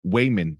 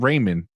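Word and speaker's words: Waymond: evelyn women and uh it's wayman w-a-y-m-o-n-d not raymond wayman it's also kind of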